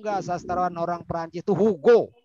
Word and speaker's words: Hugo: Ente tahu nggak sastrawan orang Perancis itu Hugo namanya, bukan Huwa Jawun. Hugo.